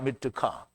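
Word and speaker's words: מתקה: 미트카. 그러니까 미트카. 그러니까 트 발음을 싹 빼면 이게 밑가처럼 읽어져요. 그죠?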